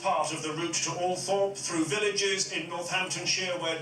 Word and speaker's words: Althorp: Even though she had preferred bright lights and big cities, the rural setting of Althorpe, sometimes pronounced Althorp by the toffs, was thought most appropriate for Diana's last resting place.